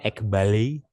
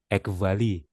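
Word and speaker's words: ἐκβάλλει: Ada yang bacanya Ekbali, ada yang bacanya Ekvali, tergantung dia pakai pronunciation yang mana ya. Tapi saya pakai pronunciation modern Greek ya, Ekvali.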